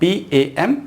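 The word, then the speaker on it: palm: तो यहाँ पर एल साइलेंट होगा, इसे हम क्या प्रोनाउंस करेंगे, पाम, PAM, पाम। एल को साइलेंट रखना है।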